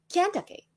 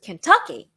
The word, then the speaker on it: Kentucky: And I emphasized on the wrong syllable. I thought it was Kentucky, but actually it was Kentucky.